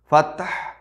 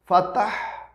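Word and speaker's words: الفتاح: এরপরে রয়েছে আপনার ফাত্তাহ, ফায়ের পরে তার মধ্যে সাকিন, এরপরে অক্ফ করার কারণে হায় সাকিন, খুব একটা কঠিন উচ্চারণ। ফাত্তাহ, ফাত্তাহ, তায়ের উচ্চারণটাও আসতে হবে, এরপরে হায়ের উচ্চারণটা আসতে হবে।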